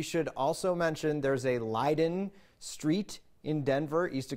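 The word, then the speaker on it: Leyden: le ye en is actually pronounced and correctly pronounced Leiden so the three brothers actually came here they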